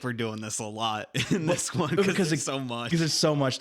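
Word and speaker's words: Elloe: the the combat started alo alo alo or something like that it's e l l o e so I always just said L then that's what we'll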